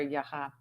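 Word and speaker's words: Яга: It's just a different sort of sound to that second syllable of Yaga or Yaha.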